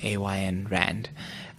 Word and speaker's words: Ayn Rand: By I don't know how to say her name, A.Y.N. Rand.